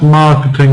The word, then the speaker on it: marketing: So marketing, yes, marketing is stressed. Mar is stressed.